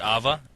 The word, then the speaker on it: A.V.A: The game is actually called Alliance of Valliant Arms, but we call it A.V.A.